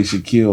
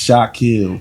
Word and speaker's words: Shakil: They always say Shakil like my last name O'Neal or some shit. But it's Shakil. Shakil.